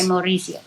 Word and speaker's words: Mauricio: So we didn't go by Carlos, we went by Mauricio. Yes. Right. It helps to roll your R's. So, yes, I fell in love with a very dashing young man called Mauricio.